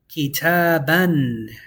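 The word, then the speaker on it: كتابًا: And you're only going to pronounce one. Don't pronounce the alif.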